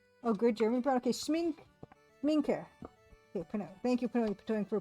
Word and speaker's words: Schmincke: Okay, Sminke. Okay, thank you for pronunciation key. Sminke.